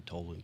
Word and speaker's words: Toland: Toland. Yes, Okay. you did. A lot of 'Cause- times people pronounce it like Toland or Toland.